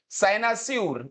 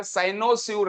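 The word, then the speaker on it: cynosure: सर्वोच्च सम्मान जो होता है उसको बोलते हैं भाई एस्टीन सनासूर इसका उच्चारण देखिएगा साइनोसर नहीं सनासर सनसूर वर्ड हमने याद किया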